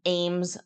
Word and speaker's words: Eames: heard about it, but it's an Ames lounger chair. So EAMES is the way that you spell it.